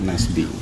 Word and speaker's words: Nasbi: Nasbi ya bukan Nasbi. Nasbi.